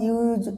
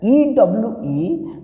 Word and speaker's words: ewe: And someone will say that, sir, if you use A, but I am not getting the point. My dear students, please remember that EWE means if you go to the phonetics, that means it is pronounced as U.